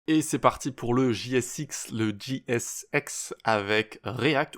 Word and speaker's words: JSX: donc JSX comme ça JSX on va le prononcer à la française et ça veut dire